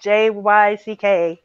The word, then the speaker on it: Jyck: But it's Jyck is how you say it.